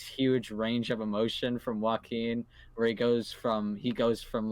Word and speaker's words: Joaquin: I was gonna use his actual name, but I actually don't know how to pronounce it. Joaquin.